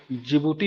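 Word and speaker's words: Djibouti: हो जाएगा ठीक है जिबूटी का स्पेलिंग बताइए तो डी से शुरू होता है ठीक है डी जे आई बी य आई ठीक है डी साइलेंट होता है इसलिए पूछा हूं ठीक है तो टेरिया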